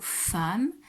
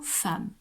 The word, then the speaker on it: femme: Alors ici, attention, hein, le mot femme, et il a un E qui se prononce A. Il faut le connaître, ça c'est un mot un peu exceptionnel. Hein. Donc F-E-2-M-E, c'est le mot femme.